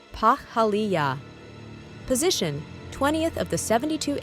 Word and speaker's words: Pahaliah: Cosmic ID card name, Pahaliah, pronounced Pahaliah.